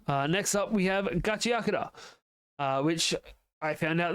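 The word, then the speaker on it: Gachiakuta: Uh, next up we have Gachiaka. Uh, which I found out this week is how that's actually meant to be pronounced.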